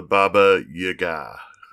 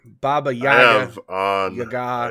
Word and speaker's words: Baba Yaga: Today, we're talking about an old Slavic folklore character named the Baba Yaga. Is that how you pronounce it? I thought I would, because Baby Yoda, Baba Yaga.